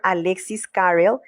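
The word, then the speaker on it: Alexis Carrel: Esto lo escribió el doctor Alexis Carell, fisiólogo y cirujano francés premio Nobel en 1912. Tal vez la pronunciación es Alexis Carel.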